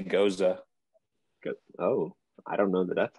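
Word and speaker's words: Gose: Is it pronounced Ghost? I say Goza.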